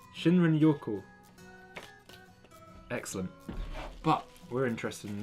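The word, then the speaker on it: 森林浴: And I didn't exactly manage to pronounce that right last time. Shuriken Yaho? Yo. Shinrin Yoko. I think I've got it right that time. Shinrin Yoko.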